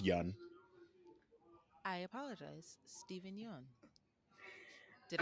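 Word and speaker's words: Yeun: conan o'brien and apparently conan o'brien had been pronouncing his name wrong for like years and he's like no it's just young i apologize stephen young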